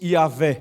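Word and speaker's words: Yahweh: alguns estudiosos Dizem que quando nós vamos pronunciar o vocalizar esse nome é como se fosse yaveh bom e no latim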